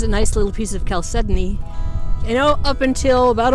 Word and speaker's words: chalcedony: You know, up until about a month ago, I didn't know that's how it was pronounced. I always called it chalcedony because that's what it looks like when it's spelled. And I was kind of disappointed that it's not said that way.